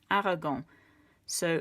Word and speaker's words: arrogants: Okay, for the masculine, arrogant, you're just going to add an S on the end. Arrogant. So, mes parents sont arrogants. Arrogant. You can't hear it, but you can see it, so you need to know how to spell it.